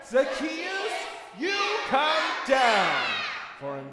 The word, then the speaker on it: Zacchaeus: Too Short his name was Zacchaeus everybody say Zacchaeus you got to say it correctly Zacchaeus he was a weeable man and he took